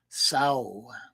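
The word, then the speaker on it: sauh: each shot to your will is the single syllable Mantra Sao spelled s-a-u-h Sao known as the pot Asia the seed Mantra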